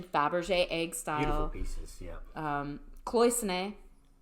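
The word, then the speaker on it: cloisonné: Egg style pieces um cloisonne which I often when I'm moving between languages will pronounce cleosone or like I do it phonetically sometimes but cloisonne Russian Faberge eggs again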